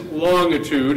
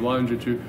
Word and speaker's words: longitude: As it says, the name is longitude, as they used to pronounce it back then. Now we mostly say it with a hard G of longitude.